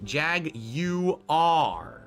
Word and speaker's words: Jaguar: Their new logo is Jaguar, emphasizing the British pronunciation Jag-U-R.